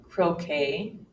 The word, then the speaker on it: croquet: are several more exceptions another one occurs and words that come from the French language where we actually hear the long a sound for example Buffet ballet bouquet croquet Ricochet beret Americans have